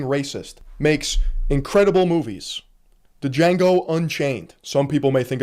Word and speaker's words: Django: The D is silent. Django.